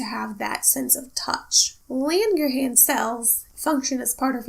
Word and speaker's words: Langerhans: CITES Merkel cells in Lindon cells I probably said the last one girl I keep mispronouncing it Lynne your hands Langerhans now melanocytes are cells